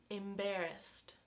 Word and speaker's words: embarrassed: Okay, my last one: embarrassT, embarrassT.